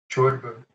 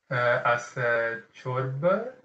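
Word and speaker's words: ciorbă: I thought you used a weird R, which is not rolled. So Romanian R is trilled. Well, rolled, not trilled. So don't be afraid of rolling it.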